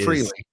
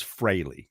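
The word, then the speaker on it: Frehley: leag guitarist in Kiss not fre is no it's Frey I know spelled like an a that's why I brought it up oh I see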